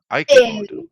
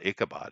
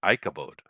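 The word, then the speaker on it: Ichabod: way oh that's interesting so it would be pronounced Ike Ike a bod ikabod it's not aabad it's ikabod uh it means to have no glory without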